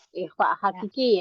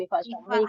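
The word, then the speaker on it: ikhfa haqiqi: dengan Sin okeib Barakallah dibacanya Ikfa ya Ikfa Hakiki ya bukan IFF ya Hakiki yang austaz Heeh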